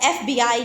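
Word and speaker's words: FBI: Like एफबीआई जो है हमारे पास इसमें हर एक सिंगल को एफबीआई हम इसको इस तरह प्रोनाउंस कर रहे हैं।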